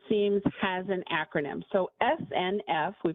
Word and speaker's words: SNF: So SNF, we pronounce it SNF, stands for Skilled Nursing Facility.